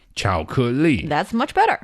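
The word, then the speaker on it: 巧克力: Chocolate in Chinese, it's very similar Yes. to the English word. It doesn't sound exactly the same. What is it? But it's close enough. Yeah. 巧克力.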